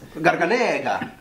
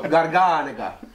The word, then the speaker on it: Garganega: Try to pronounce it. Garganega. No, Garganega. I almost know my Italian.